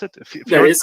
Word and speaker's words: Fjord: Is that how you pronounce it? That Fjord is how you Consulting Group?